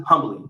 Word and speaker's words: humbly: humbly listen i always never know if humbly is like you pronounce the h or not unbelieve listen humbly it does you do